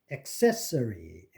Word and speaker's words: accessory: accessory 이게 accessory가 아니고 accessory 세의 액센트가 있는데 그 앞에 A가 슈아로 안 되고 제대로 A로 발음합니다. accessory except 이것도 sept의 액센트가 있는데 accept가 아니고 accept입니다.